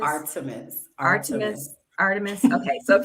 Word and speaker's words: Artemis: the art how do you say it again Armitage Artemis Artemis Artemis okay so a few things you